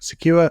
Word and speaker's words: CQURE: Today, I'm delighted to be joined by Paula Januszkiewicz, CEO of Secure and Secure Academy, that's spelled CQURE.